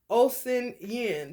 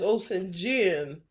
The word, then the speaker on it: Osanyin: It say Osin Yin. To me, that's Osin Jin. You see that? It's spelled OSANYIN. I mean, you take that Y out, put a J there.